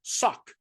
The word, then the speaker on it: saq: It's also interesting to note that our English word sack actually comes from the same root and is pronounced basically the same as the Hebrew word sak.